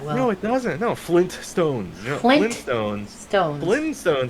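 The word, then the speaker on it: Flintstones: cartoon references but the Flint Stones Flint stone like like Flint right well that's the thing right like I I never pronounced the first T there's two T's in Flint stone I just Flyn Flint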